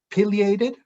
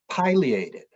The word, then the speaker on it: pileated: how you pronounce it is it pileated or is it pileated and you know all